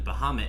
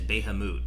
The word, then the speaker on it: Bahamut: I know I had an old friend of mine used to pronounce the Eidolon Bahamut as Behamut, and I always used to make fun of her, and I'm just like, Behamut, how could you?